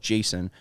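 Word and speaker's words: Jasson: is 20 years old two s uh yes two two s's but still pronounce Jason um and Jason is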